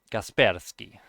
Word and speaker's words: Kaspersky: think it's called kaspersky it's russian um gasperski i don't know i actually had i had a german friend and he he pronounced it completely english he he told he said kaspersky that was pretty funny to me casper's guy but it's russian it's not kaspersky but yeah sometimes pronunciation